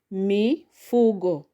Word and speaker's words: mifugo: So you pronounce it as mifugo. Mifugo. So the stress is on fu.